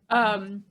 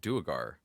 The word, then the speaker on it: Duergar: Okay, so that's the question I have, because beforehand Trovus said Dwegar and I said Duergar. Which one do you say? I say Dwerger, but we got 3 of them.